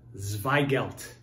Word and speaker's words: Zweigelt: today we're talking about the controversial grape called zveigelt you can kind of see it in this bottle this is vei gelt zw pronounce so zvei gelt is a cross it's